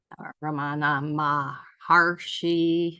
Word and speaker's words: Ramana Maharshi: the masters, like Nisargadatta, Ramana Maharshi. I think I said it right that time, didn't add another syllable.